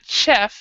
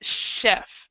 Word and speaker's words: chef: have a chef and it's not Jeff it's chef so that the CH is a kind of a soft ch Porter flight attendant private